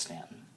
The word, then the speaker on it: Staunton: and now it stops in Staunton spelled ston pronounced Staunton Virginia and then it goes into West Virginia